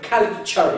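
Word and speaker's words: culture: اخذنا المقطع هذا رباعيه كنا تي يو ار اي شر كالتشر يس كالتشر كالتشر مستقبل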